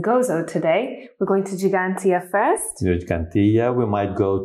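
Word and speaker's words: Ġgantija: giant in the maltese we have got two g's one soft g and one heart cg and cigantia has got the twos the first two g's so gigantia it's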